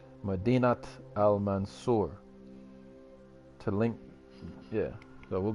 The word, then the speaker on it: Madinat al-Mansur: Madinat al-Mansur. To link the two words, you need to pronounce the T.